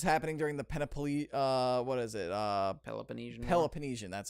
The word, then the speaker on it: Peloponnesian: It's happening during the Peloponnesian, that's how it's pronounced.